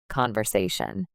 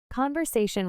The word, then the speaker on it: conversation: Conversation. Say it. Conversation with stress on the sa syllable.